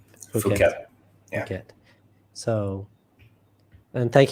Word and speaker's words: Phuket: Yeah, because they are saying now that they're still planning to open July 1 on, I always pronounce this wrong. Phuket.